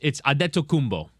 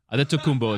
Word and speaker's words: Adetokounmpo: So I admire, but it's Adetokounmpo. Adetokounmpo is how you pronounce his last name. I'm not sure on that. That's how he himself pronounces his last name.